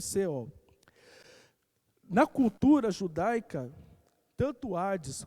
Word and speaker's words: Sheol: E, na leitura do Antigo Testamento, a palavra é a palavra Sheol, se lê dessa forma, mas se escreve Sheol.